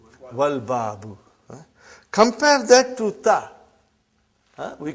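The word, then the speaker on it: الباب: I did pronounce Lam. But if the next letter is Ba. And it is written here, Al-Babu. Are you with me? Put waw in front, you will say, Wal-Babu.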